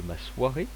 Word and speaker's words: m'assoirai: avec le verbe asseoir, qu'il y a deux façons de l'écrire et deux façons de le prononcer. Je m'assierai ou je m'assoirai. Voilà, vous pouvez choisir une des deux, les deux sont corrects.